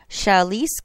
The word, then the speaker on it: Shailesh: Kumar, K-U-M-A-R, Shailesh Kumar. Shailesh is spelled S-H-A-I-L-E-S-H, Kumar.